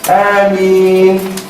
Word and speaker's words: Ameen: And by the way, sometimes many of us say it wrong in the salah. When they say Ameen. No, it should be Ameen. Okay? So we prolong it at the end, not at the beginning.